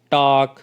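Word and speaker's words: talk: इसी तरह से नीचे दिए गए वर्ड्स हैं उनमें भी L साइलेंट है, इनको आपने किस तरह से बोलना है, काम, टॉक, should, half, stock, would, चॉक, could, almond, York, warm, salmon, ठीक है।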